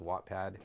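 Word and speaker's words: Wattpad: is amazing like she's on an app called watpad did I say it right yeah yeah yeah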